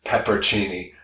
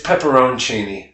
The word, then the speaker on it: pepperoncini: So the mispronunciation there is peppercini. I went red. This kind of hickey guy in front of me, he's wearing, he's got if you have tassels of any type on your person, you're probably pronouncing it peppercini. It's pepperoncini.